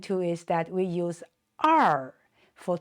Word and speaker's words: 二: And also notice for this 2 in numbers, we always pronounce it 二 when you count the numbers, and it's pronounced 二. And it's not 两.